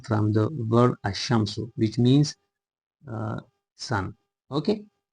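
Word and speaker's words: الشمس: So here al- Shamso uh apparently it should be pronounced uh al- shamso but uh lamb uh gets ass is assimilated to the letter she and it is pronounced ashamsu.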